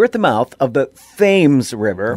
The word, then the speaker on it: Thames: course it's named after but in connecticut it's pronounced fames which makes the british soldiers bristle because any real subject of the crown would pronounce the river the proper british way and call it the thames so here at the mouth of the fames